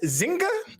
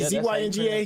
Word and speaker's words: Zynga: Is it pronounced Zynga? Is that how you pronounce it? Zynga? Zynga.